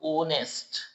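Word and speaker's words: honest: जब आप इसको रीड करोगे प्रोनंसिएट करोगे तो ओनेस्ट ओ साइलेंट ओनेस्ट ओ आ रहा है ना?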